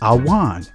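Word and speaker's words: עָוֺן: The Hebrew word for iniquity is pronounced awan, which means to crook, pervert, do perverse, do wickedly, do wrong, to bend, twist, distort.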